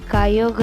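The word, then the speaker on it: Kyogre: सी king, अरे वो वाला सी किंग नहीं, सी का किंग, सी का राजा है कायोगर। कुछ लोग उसको क्योगरे भी बोलते हैं, पर हम उसको कायोगर ही प्रोनाउंस करते हैं।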